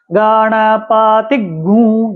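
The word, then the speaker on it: गणपतिगुं: में उ और अनुस्वार गण पति गु ये उच्चारण है इसका कई लोग इसको गुंग बोल देते हैं कई लोग गंग बोल देते हैं कई लोग गुंग बोल देते हैं कुछ भी बोल देते हैं लेकिन इसका शुद्ध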